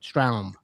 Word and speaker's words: Stroum: How do you pronounce it? Stroum. Stroum. But is that the Boston pronunciation or is that the actual pronunciation?